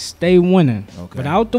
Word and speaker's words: Staii Winnin: Now, I don't spell it to stay. I don't spell it S-T-A-Y. Of course not. Yeah. It's S-T-A with two I's. Winning. Without the G.